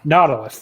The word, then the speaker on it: Nautilus: I never know how to pronounce this. Natalius? I don't know. I thought it was Nautilus. I don't know. Nautilus, thank you.